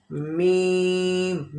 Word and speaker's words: م: Okay, मीम, मीम also lip sound letter. मीम भी जो है वो होंठ वाला हरफ है, दोनों होंठ को बंद करेंगे और मीम को प्रोनाउंस करेंगे।